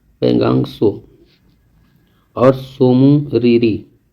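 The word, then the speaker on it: Pangong Tso: आता है जैसे पेंगोंग, और ये TSO इसकी स्पेलिंग आती है, जो कि इसे हम लोग लिखते हैं सो, लिखा हुआ है पेंगांग सो।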